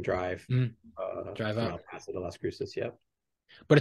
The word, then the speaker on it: Las Cruces: Cruces New Mexico right did I pronounce that correctly Las Cruces New Mexico that's right that is like 10